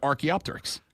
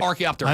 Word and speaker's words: Archaeopteryx: So who pronounced it right? We both said Archaeopteryx.